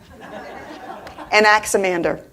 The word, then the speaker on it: Anaximander: However, there was one that really catches my attention, and his name was Anaximander. I did good. I can't pronounce where he's from, but his name is Anaximander.